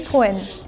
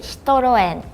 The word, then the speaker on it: Citroën: say Citroën. I know we are not famous. Oh, in Spain, it is quite famous. Really? Yeah, we have plenty. In Japan, we say Citroën. In Turkish, we say Citroën.